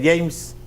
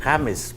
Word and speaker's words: James: que se llama james se escribe james pero todo el mundo lo pronuncia james y él dijo que él no se llamaba james él se llama james porque nos escribe y